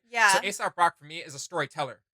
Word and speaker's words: Aesop Rock: everybody should check out, which is Aesop Rock, Yeah. not ASAP Rocky. Let's be clear. Oh! We're clear on Yeah, that. let me spell it out for you. It's no, seriously. It's AESOP Rock. Aesop Rock.